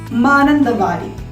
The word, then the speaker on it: Mananthavady: Vadi is the part which refers to garden, and Man is the Malayalam word for deer. So together this is pronounced as Mananthavady, the garden of the deers.